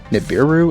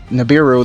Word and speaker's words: Nibiru: I think a good example of one that doesn't do that is Nibiru. Is that how it's pronounced? Nibiru, the primal being.